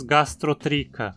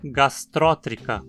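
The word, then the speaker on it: Gastrotricha: Aposto que você diz gastrotrica, né? Pois não podia estar mais errado. O i em tri é curto, então o acento não pode cair aí. Temos que dizer gastrótrica.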